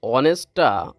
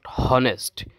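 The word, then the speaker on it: honest: দেখেন আমি যখন অনেস্টটা উচ্চারণ করলাম তাহ তখন কিন্তু মানে আমার যে উচ্চারণটা উচ্চারণে কিন্তু আসলে ভাওয়েলের সাউন্ড আসছে অনেস্ট নট হনেস্ট এখানে হনেস্ট বলা যাবে না অনেস্ট সাউন্ড আসছে ও সাউন্ড আসছে ও সাউন্ড আসলে ভাওয়েলের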